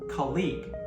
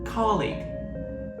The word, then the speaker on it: colleague: For example, the word colleague. Many learners stress the second syllable, colleague, but the correct stress is on the first syllable, colleague.